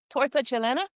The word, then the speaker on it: Torta Chilena: Torta Chilena?